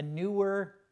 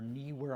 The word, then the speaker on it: Neewer: And then the last thing I'm using is a Neewer, or Neewer, I'm not exactly how to pronounce it. Looks like it's Neewer with an extra E.